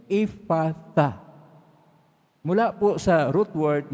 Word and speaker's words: Ephphatha: Itong Ephphatha, ito talaga yung pag-pronounce sa mga Hebrew. Ephphatha.